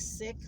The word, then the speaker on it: Sikh: A lot of people call them Sikh, but the proper pronunciation is sick.